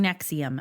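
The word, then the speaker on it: NXIVM: But this podcast by the CBC is called Uncover Escaping Nexium. Again, it's spelled NXVM.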